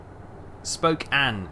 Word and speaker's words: Spokane: Spokane is how you say it.